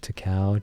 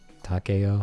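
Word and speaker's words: Takao: like to cow mounted to cow t-a-k-a-o my pronunciation sucks but I think that's how you say to Cal Takeo I don't know yeah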